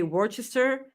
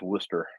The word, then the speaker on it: Worcester: it right no no I learned that from Jim Ross that it's Worster do they know that